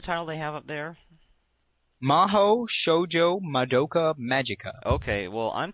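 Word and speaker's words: 魔法少女: one yeah okay apparently mahou shoujo is how it's pronounced in japanese but then they have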